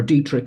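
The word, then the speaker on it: Detrick: their bioweapons lab in Fort detric or Dietrich as they might pronounce it Maryland and then get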